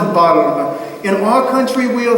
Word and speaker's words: Balm: Because my name is pronounced not the way they pronounced it, but it's Balm.